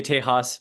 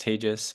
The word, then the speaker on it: Tejas: A lot of people say Tejas being in Texas, but it's pronounced Tejas, but I'll respond to any which way you call me.